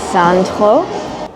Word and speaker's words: Sandro: I used to really like this brand called Sandro. It's a French brand, or as the French would pronounce it, Sandro.